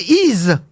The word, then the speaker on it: Y: le village d'Y, on prononce I, le nom de la ville, mais ça s'écrit Y, une seule lettre dans la vallée de la Somme.